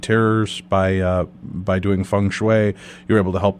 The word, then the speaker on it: feng shui: the ancient art of fun am I pronouncing that correctly David yes you are fun Fang chop I can't